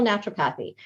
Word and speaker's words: naturopathy: Her professional credentials include a doctorate in traditional help me pronounce this, naturopathy.